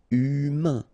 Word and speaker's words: humain: Remember, H doesn't exist. So, U, then A-I-N together. Un. Humain. Humain.